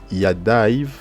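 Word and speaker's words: יָדָיו: Ça se lit Umase, Yadaiv, donc Yadaiv.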